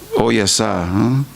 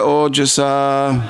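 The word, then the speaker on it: ओजसा: Now I was trying to say it the Slovenian way, which would be Ya Oyasa. Huh? We don't do that with Sanskrit. It's J. Maya Sahoru Kramateja Ojasa.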